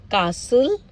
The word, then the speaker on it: castle: Again, castle, Christmas, fasten, listen, often, whistle, bustle, hasten, soften, rapo, gourmet, ballet.